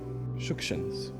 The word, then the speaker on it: Shukshin: I say the surname with the emphasis on the first syllable because that's the correct way to pronounce it. Yes, Shukshins.